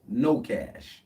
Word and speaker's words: kNOw CA$H: Well, now y'all know the homeless man is KNOWCASH. The K is silent.